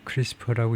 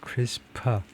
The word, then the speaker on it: CRISPR: 아, 크리스퍼션 test is크리스퍼라고 읽는다. 크리스퍼라고 읽는다. 그렇게 생각하면 되겠네요. 예. 예. 이렇게 CRS PR라 PR이라고 이런 식으로 읽는다는 건데요. 크리스파라고 클리 space short repeat 뭐 별 의미가 없고 하여튼 읽을 때 크리스파 크리스파라고 읽어라 이거죠.